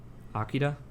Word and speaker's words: Akira: Akira? Yeah, it's Akira. Well, I guess I was doing the Japanese pronunciation.